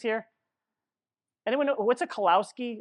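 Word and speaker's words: kolache: Anyone know what's a kalowski? Am I saying it right? Kalachi. The k.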